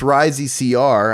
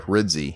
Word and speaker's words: Rizzi: is rides II my last name is pronounced oh sorry Rizzy he actually says it